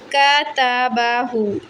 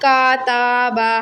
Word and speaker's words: کتابہ: کتابہ. اس طرح آپ ہجے کریں، اس کی وہ کریں روانگی. پھر ملا دیں سب کو. کتابہ، کتابہ، ناٹ کاتابہ.